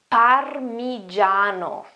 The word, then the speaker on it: parmigiano: The first one here is parmigiano, parmigiano, parmigiano, parmigiano, okay?